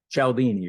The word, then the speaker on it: Cialdini: powerful okay and is what's how do you pronounce his name again cialdini Robert shelbini okay is he still alive he